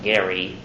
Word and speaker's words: Gerry: named after Elbridge Gerry name was actually pronounced Gary so supposedly we're supposed